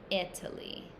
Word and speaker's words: Italy: Okay, notice the pronunciation. We don't say Italy or Italy. We say Italy. Italy. This I sound does not exist in most languages. E I E I E